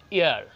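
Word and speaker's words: heir: এইটা কিন্তু একটা ব্যাপার আছে, এই উচ্চারণটা আপনারা অনেকেই ভুল করে ফেলেন, হায়ের বলবেন না, ইয়ার, আয়ের বলে অনেকে, এই যে হায় ইয়ার, ইয়ার, ইয়ার বলতে কি, যিনি উত্তরাধিকার সূত্রে উত্তরসূরি থাকে না, তাকে বলা হয়।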